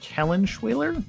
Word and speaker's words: Kellenschwiler: to have one Darren I always screw this last name up Kellen schweer I think is the right way to say it uh is going to